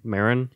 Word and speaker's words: Marin: Is his name? Marin. That's how I've always heard it pronounced.